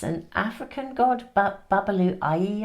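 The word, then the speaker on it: Babalú Ayé: It's an African god, Babalu Ayi, I think is how you pronounce it.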